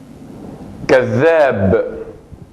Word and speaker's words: كذاب: كذاب كذاب كذاب. La pronunciación de la zel aquí tiene un punto más enfático, como si fueran dos letras de zel.